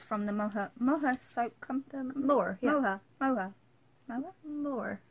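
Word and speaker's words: Moher: Is she Moha over by the Moha? So she's over by the cliffs of Moore. Yeah. But that sounds like Moore. You kinda don't pronounce the H.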